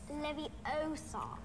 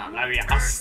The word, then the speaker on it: Leviosa: It's Leviosa. No, Leviosa. What are you doing then if you're so clever? Go on. Guardian Leviosa. Guardian Leviosa. Wingardium Leviosa. Bruh. Oh, damn it, it's Leviosa. Not Leviosa.